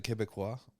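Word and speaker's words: Québécois: you one of the the quebecois is that how you say it yes that's exactly how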